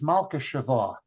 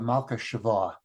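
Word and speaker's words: מלכּת־שבֿא: It took me a while to figure out, but it's Malka Shava, the Queen of Sheba, Malka Shava.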